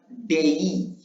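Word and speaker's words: day: For example आमे कहू डे grey डे नुहे कोन कहिबा डे नुहे एहाकू कोन कहिबा आमे डेई। आमे सिखिले कोन जे ए नुहे याकू एई भाबे उच्चारण करिबा एई। तेनु एटाकू डे नुहे याकू कहिबा डेई ग्रेई मेई प्लेई प्रेई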